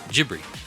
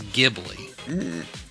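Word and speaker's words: Ghibli: So he pronounced it with Japanese phonetics which is gibri. Okay. Gibli. He goes but the correct Italian pronunciation of the word is gibi.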